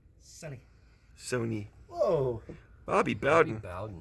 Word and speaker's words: Sony: Sonny.